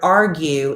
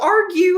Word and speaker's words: argue: old that she learned the G in the word argue is not silent. I have been pronouncing it argue my entire life. What? How? What? How did you not know argue had a pronounce a a pronounced G?